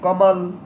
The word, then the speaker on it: कमाल: अब देखिए कमल पढ़िए, कमल, सॉरी ये कमाल है, क्या है कमाल, तो इसको पढ़ेंगे कमाल, कमाल।